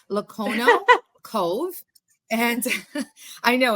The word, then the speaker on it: Lono Cove: if if you if your audience wants to pronounce it with me it's Lono Cove and I know it's like we have um